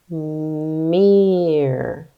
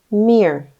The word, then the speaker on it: mere: with that one remember there's just one vowel sound e because this e is silent let's sound it out me sound it out again Mir good say it fast Mir yes Mir it was